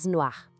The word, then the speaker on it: noire: O e faz com que a gente pronuncie o r de um jeito mais claro. Ouve a comparação. No ar, no ar.